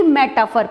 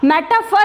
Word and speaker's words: metaphor: अब हम आते हैं डायरेक्टली मेटाफर पे। तो स्पेलिंग पर आपको ध्यान देना है, METAPHOR। मेटाफर है, इसको मेटाफॉर भी बोलते हैं, डिपेंड ऑन यू कि आप उसको क्या प्रोनाउंस करते हैं।